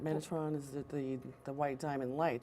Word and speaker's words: Metatron: Metadrin? Metatron. Metatron, oh my goodness. Mostly known as Metatron, Tommy, Okay. but you do pronounce it differently Metadrin.